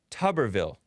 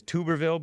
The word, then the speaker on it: Tuberville: And there's this guy running for office named Tommy Tuberville. I think of it as Tuberville, but he pronounced it Tuberville.